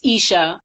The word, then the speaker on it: Eshe: the spelling but just think of keisha or you should without the king of the eye i like saying that sometimes people see my name on instagram or facebook and they don't want to say it like they see me in person so it's isha um isha speaks on